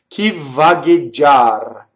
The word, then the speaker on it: vagheggiar: Notice I've written a double V. Vvagheggiar. See, vvagheggiar. Now I don't overdo V, right? I don't get stuck. Vvagheggiar. It's just nice. It's like the pasta's al dente.